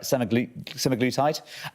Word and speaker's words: semaglutide: And the key point they're making is that, am I going to pronounce this right? Semaglutide.